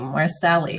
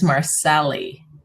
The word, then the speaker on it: Marcelli: That's a wonderful name, Marcelli. thank you. Reading your profile. Mhm. Well, I only get to see your picture, and I thought it was just Marcel, but it's Marcelli.